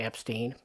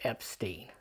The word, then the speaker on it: Epstein: everything up by saying oh you pronounced my name wrong so they said Epstein and he just went with it so officially it is Epstein so there you go